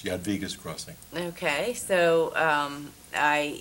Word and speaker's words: Jadwiga's: I guess it's really J Vegas no it's actually Yad vas J is pronounced like a y number of little conflicts